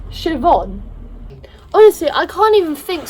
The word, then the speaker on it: Siobhan: there I found out the name sipper Han is pronounced Siobhan obviously I can't even